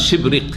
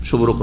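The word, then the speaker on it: شبرق: তাবরির কাছে রয়েছে, শুদ্ধ উচ্চারণ হচ্ছে তার শিবরিক, শুভরক নয়, শিবরিক।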